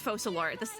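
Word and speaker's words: Focalors: duoligo French I don't it's focalore that c is an s that's really cool though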